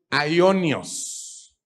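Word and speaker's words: αἰώνιος: En el Nuevo Testamento, la palabra griega más frecuentemente traducida como eterna es una palabra griega que se pronuncia en español aionios. ¿Cómo se pronuncia?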